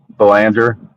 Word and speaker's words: Belanger: Belanger. Belanger. You know, the funny story is that my my grandmother's maiden name was Berlanger. So it's really, it was a really close pronunciation, but completely different spelling.